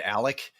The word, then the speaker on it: Alex: Alex, the way it's spelled, but now I say it Alec, you know?